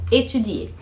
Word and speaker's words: étudier: E vamos relembrar a pronúncia do verbo étudier. Étudier, que puxa no i, é para dizer eu estudo e eu estudo, tu estudo, mesma pronúncia.